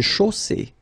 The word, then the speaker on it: chaussée: Une chaussée. Okay, here, final E not pronounced. And then you get the double S between two vowels, so it's really strong. I mean, the S is S.